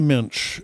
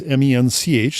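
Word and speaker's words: mensch: Well, it's not a mch, uh, which is the Jewish name for a good guy, stand up, good person. It's m- n ch, so it rhymes with tench.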